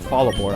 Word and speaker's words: Fallarbor: I always call it Fallarbor. I leave the first R silent. It just makes sense to me.